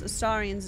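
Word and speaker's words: Astarion: dialogue that's why hello driz people need to pronounce ass saran's name right is H for the a not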